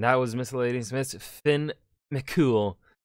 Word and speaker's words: Fionn mac Cumhaill: was miss lady smith finn mccool because apparently that's how you pronounce it i'm gonna put